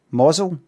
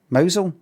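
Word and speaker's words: Mousehole: It's pronounced what? Mosel. Mosel.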